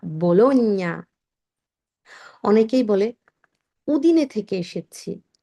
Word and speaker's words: Bologna: অনেকেই বলবেন বোলোনিয়া, বোলোনিয়া, এমনকি বলেন আমি বোলোনিয়া শহরে থাকি, এটার উচ্চারণ হচ্ছে বোলোনিয়া, বোলোনিয়া।